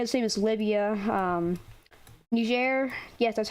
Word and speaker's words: Niger: here just dominated the same as libya um niger yes that's how you pronounce it it's not the war it's not